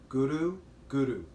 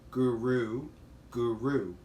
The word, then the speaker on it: guru: just asked you to use the tip of your tongue to the back of your teeth and to rule the orbits so it sounds like this guru guru opposed to guru guru most people pronounce it